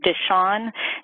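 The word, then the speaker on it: Dishion: researcher on it was I believe you pronounce it dis Sean D is H io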